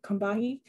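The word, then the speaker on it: Combahee: call it the the cumbi river but they pronounce the organization kombati uh river collective the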